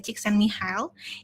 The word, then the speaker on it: Csikszentmihalyi: Bahasanya tulisannya agak belibet ya. Tapi sebenarnya cara bacanya itu sederhana, yaitu adalah Csikszentmihalyi.